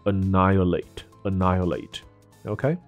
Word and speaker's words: annihilate: ，所以这个字念作 annihilate。OK，那还有一个词顺便